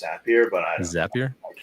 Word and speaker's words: Zapier: Like, I pronounce it Zapier. Some people call it Zapier. So I think I want to say it was because I think they call them Zaps. Right. So it's Zapier, but I don't Zapier?